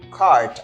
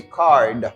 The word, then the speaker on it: cart: on this one guys notice that I say cart I don't say card we have a t sound right here we don't have D sound comforters Foreigner or you